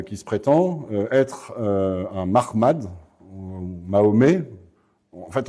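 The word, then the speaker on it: Muhammad: En fait, on sait pas exactement comment ça se prononçait à cette époque. On a juste les lettres MHMD, MHMT dans les sources. et on penche plutôt actuellement vers une prononciation Mahmad à la juive que Mohammad à l'arabe islamique comme ça sera développé après dans la tradition islamique.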